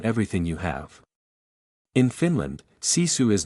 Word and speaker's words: sisu: Finland has a cultural concept called sisu, pronounced sisu.